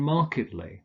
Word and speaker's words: markedly: like alleged and marked these are pronounced allegedly and markedly sir if the main